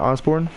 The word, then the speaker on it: Osbourne: if I'm pronouncing right Arianna yeah Arianna Osbourne not like Ozzy Osbourne as far as I know but oh s bo R and E so if you guys